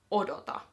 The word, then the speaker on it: odota: And to put it into the command form, you would say odota.